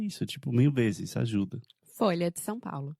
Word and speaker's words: Folha de São Paulo: pronúncia em português, porque, primeiramente, você tem a palavra folha, que tem o som de LH, que é difícil para os gringos, pelo menos é difícil para mim. E também em São Paulo, você tem uma vogal nasal, são.